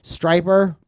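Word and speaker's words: Stryper: lame I know but that's why striper rhymes with hyper the hell with the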